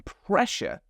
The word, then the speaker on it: pressure: And then pressure. We have two S's there, but in this word, they're making a sh sound.